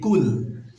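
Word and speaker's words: قُلْ: এখানে অনেকে আমরা কাফ বলি, কুল, এটা ভুল হবে, অর্থ চেঞ্জ হয়ে যাবে। তো আমরা খুব সতর্কতার সাথে আমরা কফ বলবো, কফটা উচ্চারণ করে বলবো কুল আউ।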